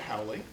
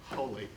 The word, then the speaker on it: Hawley: We have Patricia Hawley. I believe I just pronounced her name wrong. It's really Hawley.